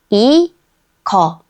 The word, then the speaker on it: 이거: 이, 그, 거. 이, 거. 이거.